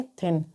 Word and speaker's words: thin: तो THIN को यहाँ पर क्या पढ़ेंगे? थिन।